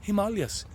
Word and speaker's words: Himalayas: of the himalayas but the himalayas as the indians taught me how to say it the people of india himalayas he would say dost